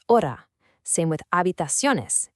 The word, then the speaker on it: hora: In Spanish, the letter H is always silent. So for the word hora, you don't pronounce the H at all. It's hora.